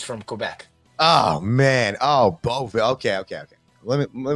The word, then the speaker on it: Beauvillier: Oh, Beauville.